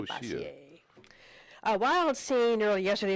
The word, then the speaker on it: Bossier: B-O-S-S-I-E-R, Beaucaire? It was, considering it's French in Louisiana, I would say Bassier.